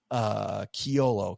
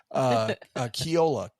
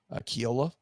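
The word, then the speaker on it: Kjolle: One was called Astrid and Gaston, and the other one was called Kiolo, KG. I pronounced that wrong. That's funny. It's and I just had it. Where is my note? Kiola, KJOLLA. Kiola.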